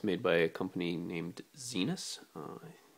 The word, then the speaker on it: Zenus: It's made by a company named Zenus. It's written back here. You can read that. It's spelled like the planet Venus, except the Z instead of a V. And I believe that's how you pronounce it.